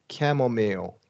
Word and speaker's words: chamomile: These are French loan words. So we get a long E sound. Yeah. Automobile. Correct. Snowmobile. Yeah. And chamomile.